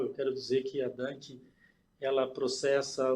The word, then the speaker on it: Danke: É Dunk mesmo ou tem uma pronúncia diferente? Na Alemanha a gente fala Danke, mas Danke tá ótimo também.